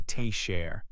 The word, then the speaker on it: teacher: For example, in teacher, you say teacher. The first syllable is stronger.